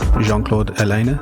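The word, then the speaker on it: Jean-Claude Ellena: And actually I was watching this perfume documentary, and there's a French perfumer called, I think it's Jean-Claude Elena, that's how you pronounce it, and he was saying the same thing.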